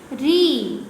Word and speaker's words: ऋ: अब आप सोच रहे होंगे कि हम गुजराती में रू कहते हैं इसको, तो हिंदी में री क्यों? लेकिन आपको जब हिंदी का आप हिंदी री का प्रोनाउंस करें तो आपको क्या स्पेलिंग लेनी है? आर आ यानी कि री। रू आप इसके गुजराती में कह सकते हैं, लेकिन हिंदी में आपको क्या कहना है? री।